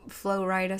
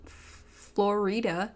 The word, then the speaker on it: Flo Rida: It's not Florida, it's Florida. Flo Rida.